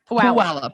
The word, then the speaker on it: Puyallup: Kendra in Puyallup. Puyallup, Washington. So, am I saying it wrong? Puyallup.